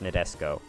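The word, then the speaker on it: Nadesico: The I in the name of this ship is actually silent. It's pronounced Nadesco. Yeah. I actually started watching that show recently. That's why I know that. And it is pronounced Nadesco in both the English and Japanese dubs.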